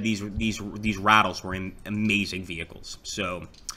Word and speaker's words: Ratel: so we've got the Ratelle right here or no sorry it's actually pronounced the rattle so the rattle here